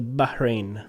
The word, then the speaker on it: Bahrain: actually went to Bahrain there's an H in the middle so you have to pronounce that it's a Bahrain and I stayed there